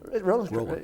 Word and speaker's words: Roland: When Roland runs, do you pronounce it Roland? Roland.